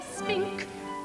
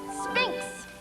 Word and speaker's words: Sphinx: You're as tight-lipped as an oyster, and as silent as an old Sahara spink. Sphinx. Sphinx. Spink. You spell it with an X.